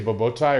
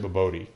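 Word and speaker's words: bobotie: Is I saying it right when I say bobotai, or is it boboti? It's probably boboti.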